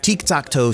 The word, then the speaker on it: Tiktaq'to: a noob's guide to tik takto this is tiktakto which is how you would pronounce his name if it was actually aztec not gorok oxiadol the